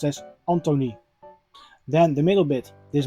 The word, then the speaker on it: Antoni: And the I in Dutch is pronounced as E. So it is a short E. So his first name is pronounced as Antony.